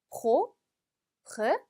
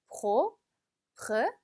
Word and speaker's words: propre: 자, 얘는 지금 pr 지금 r 발음이 2번 들어갔어요. 그렇죠? 그래서 조금 어려울 수 있습니다. pro라는 발음을 빼와 r를 거의 동시에 낸다고 생각을 하시면 돼요. 그래서 끊어서 읽어볼까요? 중간을 끊으면 propre, 한 번 더 propre,